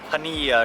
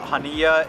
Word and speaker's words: Chania: I asked the local how to say it and it was like Hania or something like that, Hania, and we're on Crete, so we're on the